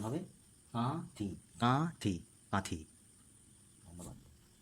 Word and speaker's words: কাঁথি: এবং এই শব্দটিকে নাসিক্য ধ্বনিতে পরিণত হয়েছে এটার উচ্চারণ হবে কাঠি কাঠি কাঁঠি ধন্যবাদ